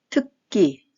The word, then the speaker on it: 특기: 짝, 짝, 전학, 전학, 특기, 특기. 특기는 기역 받침과 그 다음에 나오는 기역이 서로 만나면서 뒷소리가 약간 된 소리로 납니다. 그래서 특기, 첫인상, 첫인상, 처의 시옷